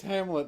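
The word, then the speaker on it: Hamleth: good princess it's h it's Hamlet and they just put the uh H at the end for no reason because it doesn't change how it's pronounced wow I am slow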